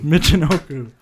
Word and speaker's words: Michinoku: wrong I wanna Nick how do you say Michinoku Michinoku okay thank you I having trouble there Yamaguchi